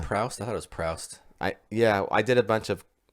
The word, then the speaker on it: Proust: I thought it was Proust. I did a bunch of research. No, searching. I wanted to know how to pronounce it. And it's a French guy like Proust.